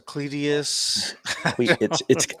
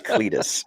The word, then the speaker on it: Cletus: We got a Cletius, a Cletius. I know him actually. His name's Cletus. But Drew says Cletius, but it's Cletus.